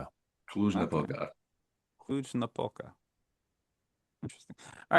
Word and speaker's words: Cluj-Napoca: Kluge Napoka. Okay. Cluj-Napoca. Kluge no polka.